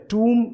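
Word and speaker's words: tomb: का कॉम्बिनेशन मिलता है, तो ब साउंड जो है बी लेटर की वो प्रोनाउंस नहीं होती है। आप इसे देखिए, ये वर्ड है टूम, इसे ये अच्छा वर्ड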